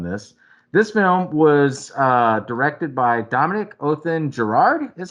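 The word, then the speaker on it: Dominique Othenin-Girard: to do on this film was directed by Dominic Othen Gerard, is how you say it.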